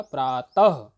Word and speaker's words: प्रातः: वैसे मुख्य रूप से विसर्ग का उच्चारण अह के रूप में किया जाता है। पहला शब्द यहां पर आप देख रहे होंगे प्रातः। ता के जस्ट बाद छोटा आ आया हुआ है, तो इसका उच्चारण हमने किया प्रातः, तो इसका उच्चारण हुआ अह।